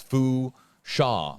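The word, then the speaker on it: Fourchon: Right, and I didn't know if the R was silent or if the N was silent, but again, just because this is a very remote area of coastal Louisiana, hashtag HJB, it's Fusha with a silent N there.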